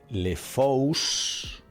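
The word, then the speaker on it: le fous: aunque se pronuncia igual, le fu con s o sin se pronuncia igual porque la s no suena.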